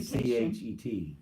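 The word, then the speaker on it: חית: Hanukkah, because we're used to seeing H sound ha, but it's actually Hanukkah, a hard H, and it's pronounced it should be CHET.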